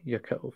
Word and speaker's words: Yaakov: Incarnate says, actually, Yaakov. Okay. Yeah, the pronunciations of names, I am not a name expert.